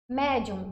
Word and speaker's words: médium: Médium e sóton, tanto mé quanto só, são mais fortes.